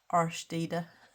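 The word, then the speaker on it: Årstider: Thank you to Jess at Colouring Bumblebee for working out how that is pronounced, so I can actually say it properly now. Arstede.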